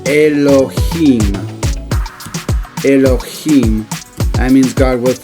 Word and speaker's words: Elohim: Now if I was to look at the word Elohim again, Elohim, you notice the I has an E sound.